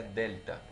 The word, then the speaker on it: delta: que tomar en cuenta este triángulo está aquí se pronuncia delta que implica ese triangulito